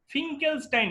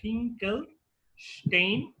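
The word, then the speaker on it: Finkelstein: তো number A হচ্ছে for iodide, ঠিক আছে, ফর আই এটার নাম হচ্ছে ফিঙ্কেলস্টাইন রিঅ্যাকশন। ফিঙ্কেলস্টাইন, উচ্চারণটা স্টাইন হচ্ছে বাট অ্যাকচুয়ালি হবে স্টেইন, ঠিক আছে, রিঅ্যাকশন, ঠিক আছে।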